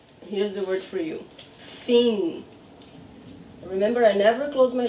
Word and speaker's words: fim: Fim. Say after me. Fim. Here's the word for you. Fim.